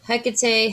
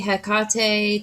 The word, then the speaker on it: Hecate: oh yeah hakate's wheel hecate hakate tomato tomato i am a firm believer some people will say that's not how you say it however you want to say is how you say it so this is her